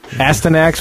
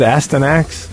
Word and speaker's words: Astyanax: I always said Astanax, but I think it is Astyanax. It's Greek or some shit.